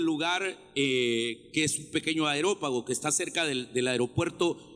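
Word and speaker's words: Areópago: 19 tomándole lo trajeron al aerópago aerópago aerópago aerópago hoy lo pronunció bien entonces agarraron a pablo y lo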